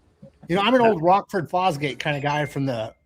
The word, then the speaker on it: Rockford Fosgate: You know, I'm an old Rockford Fosgate kind of guy from the mid 90s. Flogford Rossgate?